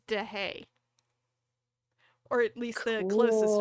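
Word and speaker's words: Deshaies: But he posted a pronunciation guide on his Twitter, and correct pronunciation, it's DeHay.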